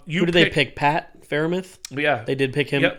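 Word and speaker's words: Freiermuth: the board um you did they picked pat farimith yeah they did pick him up um and you know that's how you pronounce that third and fourth round is good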